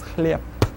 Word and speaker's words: хлеб: The word хлеб will actually be pronounced as хлеб, not spelled, but pronounced. Take a look at the next one.